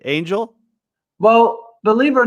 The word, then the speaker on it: Angel: my name very wrong some people pronounce it as on hell and uh believe it or not one person even pronounced my name as anal oh come on no